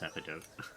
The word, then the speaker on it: epidote: just go um it is pronounced epidote.